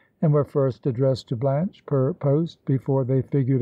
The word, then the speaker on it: Blanche: muse of may larm blanche we know rhymes with branch and stanch and launch and no doubt a